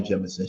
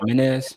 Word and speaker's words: Jemison: All right, so I'm going to highlight Iona Jemison. She's going to hate this. She is a beautiful Trini Puerto Rican woman from Brownsville, Brooklyn. Not pronounced Jimenez. My bad. Yeah, Jimenez. She and her sisters opened